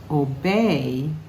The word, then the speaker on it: obey: did in verse 55 obey has emphasis on the second syllable we don't obey we obey the Commandments and last in verse